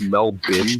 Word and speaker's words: Melbourne: stuff in Melbourne that's kind of cool it's pronounced Mel Bim by the way like Melbourne not Melbourne a